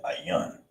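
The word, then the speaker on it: ayin: Is ayan. That's how you say that, ayan.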